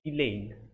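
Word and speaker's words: Ghislaine: what's the spelling g-h-i-s-l-a-i-n-e oh s is silent here so elaine these names are extremely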